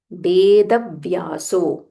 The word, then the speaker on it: वेदव्यासो: सहस्रस्य वेदव्यासो महा मुनिह सो व्हनेवर there is a half letter make sure you pronounce it properly without skipping it for example here ऋषिर नाम there is a half म नाम सहस्रस्य half स सहस्रस्य वेदभ्यासो there is a half व वेदभ्यासो महामुनि मुनि that is